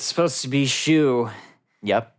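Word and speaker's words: Shyu: make is that I use name is not pronounce shy you it's supposed to be Xu yep it's supposed to be Xu yeah that's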